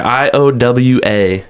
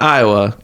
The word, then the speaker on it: IOA: I'm pretty sure you're supposed to spell it out. I think it's a play on the the IA chant that they do at Hawkeye games. I've heard that many a time. So anyways, it's not Iowa.